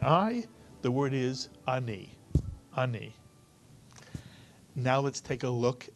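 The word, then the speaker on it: אני: one syllable word and if you read it Ani again it's one syllable the a is like a Grace note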